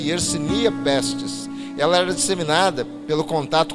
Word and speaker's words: Yersinia pestis: bactéria e yersínia testes o nome é difícil porque é o nome científico mas ele se pronunciasse yersinia pestis ela era disseminada pelo